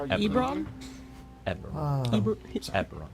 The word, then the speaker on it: Eberron: That's not Erebron? No, How you Bron? pronounce it. Do you mind if I Eberron. ask how you Eberron.